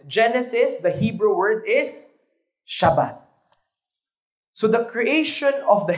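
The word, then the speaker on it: שבת: Hebrew It's gusto niyo matuto ng Hebrew we pronounce it shabbat one more time shabat yung may gigil yung may gigil sa dulo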